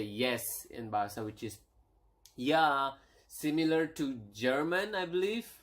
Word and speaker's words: ya: is how do you say yes yes is yah yah okay so um that's how do you